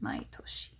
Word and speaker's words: 毎年: month is maitki and every year could be pronounced main in but it's more common to have it be pronounced maitoshi next now this is